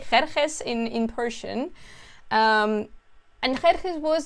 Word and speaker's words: Xerxes: I don't know actually how to pronounce it in English. We say Xerxes in Persian.